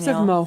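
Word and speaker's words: Moher: that I'm just reminiscing the H is silent Mo Cliffs of Mo okay Daniel that's what Daniel says okay moh I hope it didn't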